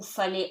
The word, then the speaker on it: fallait: Il vous fallait autre chose. So, il, easy. Vous, do not pronounce the S. Fallait, AI becomes E, T is silent.